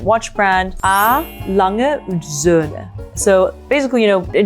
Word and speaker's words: Söhne: But because you have the umlaut, it's Söhne.